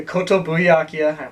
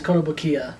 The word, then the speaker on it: Kotobukiya: That would be the Kotobuyakia, if I pronounced it right, Darth Vader from 2002. I don't remember. It was Kotobukiya. Kotobukiya, thank you.